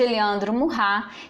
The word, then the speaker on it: Eliandro Murrá: No primeiro programa eu chamei Eliandro de Eliandro Murrá, que é a pronúncia correta do nome dele.